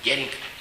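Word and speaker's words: Jhering: Estoy pronunciado con J, Jering. Si la pronunciara yo con I, y en alemán sería Igering, pero es Jering con J.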